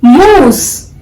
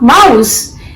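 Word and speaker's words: mousse: You have to pronounce this moose. It's not mouse. It is moose.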